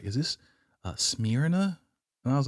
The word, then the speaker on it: Smyrna: It kind of sounds like smearing off.